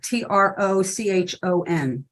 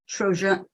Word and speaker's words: Trochon: Jean-Jacques Tricon, I'll spell it, Trochon. Jean, Jean - Jacques, JACQUES, Trochon.